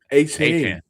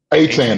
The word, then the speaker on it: Etienne: Etienne. Etienne.